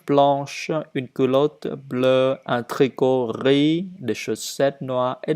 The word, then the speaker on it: tricot: Je dois dire riz sans S, riz, vert, blanc, habit, vêtements, tricot, gants. Les lettres à la fin du mot ne se prononcent pas et donc qu'on ne prononce que le principal.